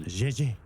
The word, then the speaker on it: JJ: Try it with a softer G. Gigi. Yeah, like there you go. Gigi. Gigi. It's the pronunciation of the letter J in the French language.